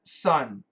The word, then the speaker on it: son: S-O-N, sun. S-U-N, sun. Same pronunciation.